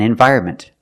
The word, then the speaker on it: environment: Environment is countable, so for one, I say an environment. Pronunciation, environment. The first syllable is not stressed, so you can pronounce it environment. The second syllable is stressed. We pronounce it vire, like fire or tire.